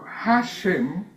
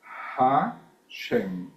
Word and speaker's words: Hashem: Hashem, que es una H aspirada, Hashem, el nombre.